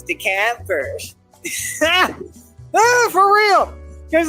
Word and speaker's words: DeKalb: It's DeKalb. What do you mean? I'm pronouncing it right.